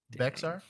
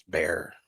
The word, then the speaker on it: Bexar: Bexar? Is it Bexar? Bear? Is it Bear? It's Bear. Oh, Bear Bear.